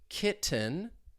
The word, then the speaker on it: kitten: Kitten, all right, instead of a true T, I'm going to say kitten with a glottal T.